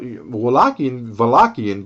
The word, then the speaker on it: Wallachian: But Wallachian, by the way, with V, that's how we pronounce it.